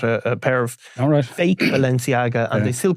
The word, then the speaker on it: Balenciaga: know cuz I asked Denise Smith how to pronounce the next one, which is the the Balanchi Aaga ladies train. Balenciaga.